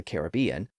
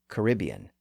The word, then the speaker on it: Caribbean: let me acknowledge that there are two common pronunciations of that word especially in American English we have Caribbean and Caribbean I will admit that my pronunciation often fluctuates between the two but for purposes of this podcast I'm going to use Caribbean which is the older and more traditional pronunciation within English also one other quick